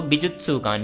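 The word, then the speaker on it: 美術館: एंड ये सु का हमेशा ध्यान रखना। ये सु नहीं होता। सु होता है। तो बिजुत्सुकान। बिजुत्सुकान का मतलब होता है एक आर्ट म्यूजियम।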